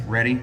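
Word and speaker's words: Rhetty: And your channel, it's spelled, your name is R-H-E-T, so it's R-H-E-T-T-Y. Yes, ready.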